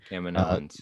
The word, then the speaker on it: Kaminoans: We have finally learned how to correctly pronounce that, by the way. Thank you, Rebel Scum Texan again. Kaminoans.